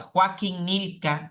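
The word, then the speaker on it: Joachim Gnilka: estudioso de la Biblia joaquí nilka así se llama joachín nilka así se escribe joachin joachin nilka defiende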